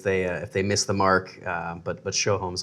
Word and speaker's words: Sjoholm: But if you want to say it correctly, if you change the J to an H, Sjoholm, like you're showing a home, Sjoholm.